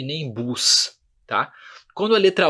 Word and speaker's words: bus: Perceba que bus a gente pronuncia esse S, é uma pequena exceção, tá? No bus a gente pronuncia o S, tá?